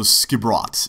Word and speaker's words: Skipbrot: So Skibrot is the name of the town. That's how you pronounce that.